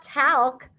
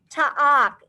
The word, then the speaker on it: talk: a red word lucas you don't hear the l it's not talc like talcum powder it's ta'ak i would almost spell